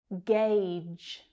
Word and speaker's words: gauge: Gauge. Gauge. Again, this one's a little tricky because of the vowel letters in there, but the vowel sound is the diphthong A, like in day.